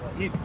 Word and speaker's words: Ypres: You say it like Eep, but it ain't spelled like that. Okay. It's a French. Ypres or Ypres. Ypres. You just say Eep.